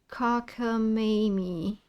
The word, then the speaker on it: cockamamie: How do I pronounce it? Wait, let me see. Can you show me? Yeah. Cockamamie.